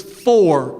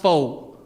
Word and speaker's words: for: The word is for, it's not foe.